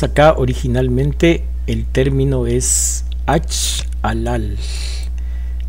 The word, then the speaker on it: achalal: Notemos acá originalmente el término es achalal. La L al final se pronuncia de una forma un poquito más líquida. Achalal.